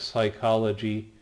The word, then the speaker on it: psychology: Most people don't emphasize the P and let it be kind of silent, so that's where we get words like psychology or psychiatry.